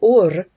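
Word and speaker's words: אור: This is if you say this, this is Ur, which is how you say light, the covenant of light, that turns you and orders you.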